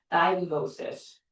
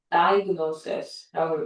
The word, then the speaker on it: diagnosis: 대부분 인간들이 어떻게 읽어? 디아 이렇게 읽죠. diagnosis, diagnosis라고 읽어요.